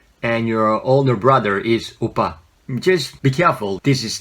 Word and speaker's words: 오빠: So, well, most people just spell it like O-P-P-A, but actually it's not oppa, it's oppa.